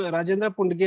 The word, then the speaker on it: राजेंद्र पुंडगे: जी सर, मैं basically मेरे महाराष्ट्र से ही हूँ और मेरा नाम राजेंद्र पुंडगे ऐसे प्रोनाउंस करते हैं सर।